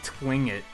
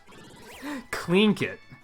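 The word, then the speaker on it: Tlingit: Because my first guess would be Twingit, and that's probably not right. Because there's probably something crazy like the L is silent and the G is pronounced like a J or something crazy like that. Yeah, like, nailed it. Like, clean kit.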